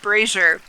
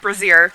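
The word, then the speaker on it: brazier: he's selling yeah it's it's pronounced brazer not braier bzier is something different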